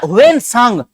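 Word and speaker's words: Hiuen Tsang: Actually ये ना हुएन सांग, सांग को टी से लिखते हैं, SANG। ये सांग लिखा हुआ है, टी साइलेंट होता है।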